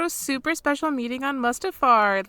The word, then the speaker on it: Mustafar: the separatists over like to Mustafar which is maybe how you say it yeah that is